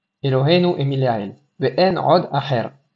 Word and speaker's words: Acher: Ve'en od Acher. Attention à pas oublier de prononcer le Aleph de Acher. Et pas dire Ve'en od Acher.